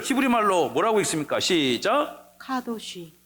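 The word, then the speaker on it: קדוש: 반대쪽에서 저렇게 쓴 자를 히브리어 발음 기호 따라 읽으면 카도시가 되는 것입니다.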